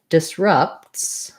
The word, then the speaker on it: disrupts: So the word disrupts has second syllable stress. This letter U says the schwa sound, sounds like ruh, like in rough. And disrupts, we don't really say a clear P there, not rupts, because we would have to make extra sound.